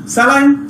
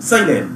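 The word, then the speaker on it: saline: হচ্ছে মেলামিন, কয় কি আলামিন, তো এটা মেলামিন, স্যালাইন সাইলেন, বাইনোকুলার বিনোকুলারস। আচ্ছা আমরা এই যে ভুল উচ্চারণ শিখছি এই জন্য ওদের উচ্চারণগুলো বোঝা যায় না, বুঝতে পারি না।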